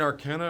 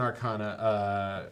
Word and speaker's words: Arcana: I had to look up Art and Arcana or Art and Arcana. Art and Arcana. Art and Arcana. Like Americana. Americana. But Dungeons and Dragons, the Art and Arcana, a collaboration book.